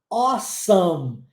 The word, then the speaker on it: awesome: E aí ele fala awesome repare na pronúncia dessa palavra a e o ó é só isso mesmo a Ok awesome awesome significa